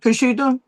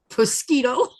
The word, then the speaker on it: prosciutto: You know how I used to say that? Mosquito. All I know is how you say pattern. And then somebody says, "What are you saying?" I said, "I bought some mosquito." Do you mean prosciutto?